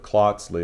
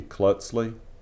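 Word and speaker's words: Klötzli: this is my klutzly it was pointed out i didn't pronounce that correctly so instead of cloxley it's supposed to be klutzly and that again is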